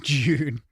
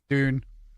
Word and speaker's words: Dune: Going to go play some June. I know. I keep saying it wrong. Dune.